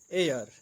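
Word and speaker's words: heir: प्रयोग होता है, जैसे जिन शब्दों में एच साइलेंट रहता है उनसे पहले एन का प्रयोग होता है, जैसे an hour, an honest man, an hour, an honest man, on honourable man, N honourable man, एन एयर यानी उत्तराधिकारी आदि।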